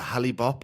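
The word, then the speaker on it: Hale-Bopp: I know I'm probably going to say the name wrong. Is it the Hollib comet?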